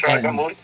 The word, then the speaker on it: Rajamouli: Yep, that's Rajamouli.